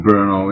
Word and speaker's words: Brno: And forgive me if I mispronounce the name of your hometown, but is it Brno? Is that how you pronounce it? Brno, yeah.